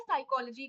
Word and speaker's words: psychology: मैं साइकोलॉजी की, साइकोलॉजी, तब साइकोलॉजी एस से हम एस साइकोलॉजी में साइलेंट हो, ही लिखा ही क्यों?